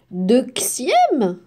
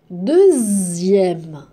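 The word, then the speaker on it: deuxième: lire ce mot comment je peux le lire dexiè non deè non comment je vais je vais lire le mot deè de Z est-ce qu'il y a la lettre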